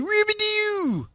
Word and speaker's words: Rubidoux: Well, I heard it's actually Rubidoux. Well, I don't know if you want to say it like that. Well, that's what someone told me, though, is actually the correct pronunciation.